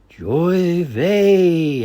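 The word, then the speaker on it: J'ouvert: nearby Geor Chester Massachusetts the actual name of the festivities is a French Creole word pronounced Joy V and it means Daybreak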